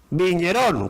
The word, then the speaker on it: vigneron: Vigneron. Viñerón, con acento en la N última.